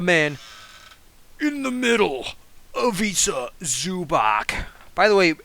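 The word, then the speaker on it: Ivica Zubac: in the middle of Isa zubach by the way so many commentators nowadays don't know how to pronounce his effing name dude it bothers me it's avisa zubach okay okay now we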